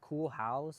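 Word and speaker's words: Koolhaas: Urban Koolhaus, cause his last name is Ah, Koolhaus. But I always wondered that. Like, how'd you? and I thought it was a funny thing because his name is, it's not spelled, but it's Cool House. Sometimes pronounced, but sometimes I was looking at it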